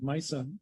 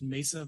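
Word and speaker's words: Meissa: develop intranasal vaccines at mysa tell us about your approach thank you yes my name is i'm a phd virologist uh co-founder and chief scientific officer of uh it's pronounced mesa vaccines thank you which is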